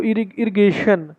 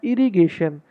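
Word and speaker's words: irrigation: Speaking सुनी थी, उसमें कुछ लोग बोले इसको इरिगेशन। ये करेक्ट प्रोनाउंसिएशन इसकी है इरिगेशन।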